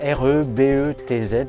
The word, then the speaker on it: Rebetz: Donc Rebet, c'est R-E-B-E-T-Z, mais se prononce Rebet.